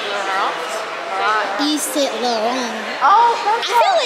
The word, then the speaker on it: Saint Laurent: Saint Laurent. Oh, that's I feel like in with Parisian language, Gucci. You don't pronounce the T.